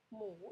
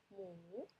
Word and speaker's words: หมู: Hmu sap. Okay, you can see this one is a silent letter, it's a head, but we not pronoun, it's all in front of low class consonant.